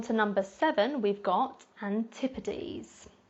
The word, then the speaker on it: Antipodes: number seven we've got Antipodes Antipodes so the S at the end of this word is pronounced more like a Z sound the Antipodes are referring